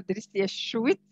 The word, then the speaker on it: Drissia Chouit: you madam uh first i would like to correct the pronunciation of my name i'm dr trisia schwitz i'm a linguist and